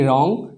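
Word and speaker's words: wrong: नहीं किया जाता है व के बाद आर आता है तो ये जो डब्लू वर्ड है लेटर है ये साइलेंट हो जाएगा इसका उच्चारण नहीं किया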